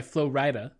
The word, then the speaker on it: Flo Rida: It's pronounced Flo Rida? The rapper? Yeah. Yeah. Okay, interesting. Or Flo Rida. I assumed it was written FLO-RIDA in an encouragement for people to mispronounce it, but apparently not. No, it's FLO space RIDA.